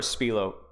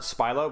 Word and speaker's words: Spilo: here last thing is it's spylo or spielo or spylo um it doesn't really matter I I've always pronounced it spylo but it doesn't really